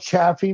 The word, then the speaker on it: Chaffee: It's called Chaffee, Missouri.